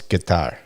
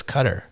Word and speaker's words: Qatar: audience who doesn't know it's guitar guitar but that's not how you originally pronounce it it was cutter yeah but it's it